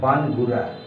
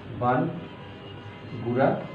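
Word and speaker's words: バングラ: গু হয়ে যায় অর্থাৎ বানগুরা বাংলাকে ওরা বানগুরা বলে বাংলাকে বলে বানগুরা অর্থাৎ তারা উচ্চারণ করে বান গুড়া দেশ সুগোড়া দেশু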